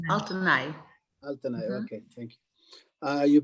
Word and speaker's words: Altynai: It's Altynai. Altynai. Altynai.